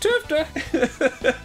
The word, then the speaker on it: TFTA: It's pronounced Tufta.